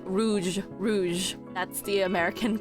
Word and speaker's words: rouge: say it with the American accent you say roog Rouge Rouge that's the American pronunciation but in French back to my list